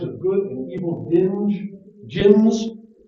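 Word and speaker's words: djinns: good and evil binge jinns you don't usually pronounce the d jinns these are also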